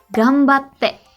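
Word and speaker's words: 頑張って: tadi senpai juga ya karena ini berhubungan sama cara baca huruf N juga kalau ini yang betul itu adalah gambate Oke gue Cidro Oh ya udah ribet gambate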